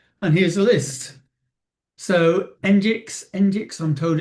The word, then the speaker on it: Nginx: So Nginx, I'm told it's pronounced, Apache, Cloudflare Server.